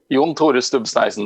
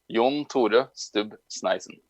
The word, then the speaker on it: Jon Tore Stubb Sneisen: John Sneesen, that's going to say his whole name with the right pronunciation. Go. Jon Tore Stubb Sneisen. That's actually the Norwegian version of it.